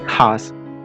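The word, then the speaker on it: he's: Okay, ഹി ഈസ്, ഹി വാസ്, ഹി ഹാസ്. ഇത് മൂന്നിൻ്റെയും short form നമ്മൾ എഴുതുന്നത് ഹി അപ്പോസ്ട്രോഫി എസ് എന്നാണ്. ഇതിൻ്റെ ഉച്ചാരണം എന്ന് പറയുന്നത് ഹീസ് എന്നാണ്.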